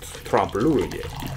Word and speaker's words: trompe-l'oeil: It's French. Yeah, we looked up how to say it because it's one of those words that you only see in writing. And then you don't really hear a lot of people say these days.